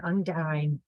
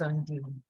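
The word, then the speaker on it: undine: Celtic uh terminology and undyne I I have my own pronunciation which I like which is undo so we have this individual and apart from um a particular say an undeen of the pond which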